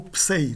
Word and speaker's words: psi: A pronúncia da época clássica seria em ei, né? Psei, e não psi.